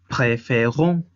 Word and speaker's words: préférons: préférons. La sílaba tónica es on.